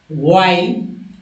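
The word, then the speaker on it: while: मैं बता दूं कि एच जो है यहाँ साइलेंट होता है, एच का उच्चारण नहीं होता है।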